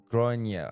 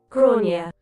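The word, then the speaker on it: Gráinne: She asked what I meant, and I said, well, in Ireland, they typically pronounce it Gronia. How'd you say it again? Gronia.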